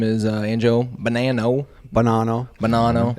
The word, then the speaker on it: Bonanno: BONANNO.